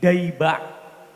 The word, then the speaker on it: Diba': adalah Maulid Diba Maulid Diba ini sebetulnya ejaan yang benar itu bukan Diba tapi daba karena penyusunnya Maulid Diba